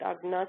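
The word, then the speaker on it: आज्ञा: So Gya and Gna are the same letter. In Hindi, it's pronounced like Gya. In Gujarati, it's pronounced like Gna. So I'll stay with the Gujarati pronunciation and call it Agna chakra.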